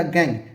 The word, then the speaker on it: gangue: अधात्री भी कहा जाता है, या इसी को गैंग भी कहा जाता है। ठीक है, स्पेलिंग होता है GANGUE।